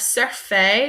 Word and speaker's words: sur: this slide we have surf surf kind of looks like the word in English so Sur to Surf sir means on so this is kind of pronounced like sir s iir in English so Sur sir enter